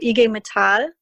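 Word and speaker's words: IG Metall: introduction uh don and your kind words so ige mithal is how you pronounce um the german metal workers union in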